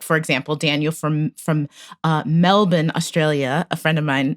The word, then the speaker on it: Melbourne: first hold on melbourne australia is pronounced melbourne melbourne wow i've learned something today